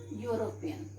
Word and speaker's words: European: Now children, it is starting with E, but if we will pronounce, this word will come. Okay, you will come, and you is a constant sound.